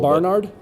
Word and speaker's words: Barnard: I accent the first syllable. Barnard?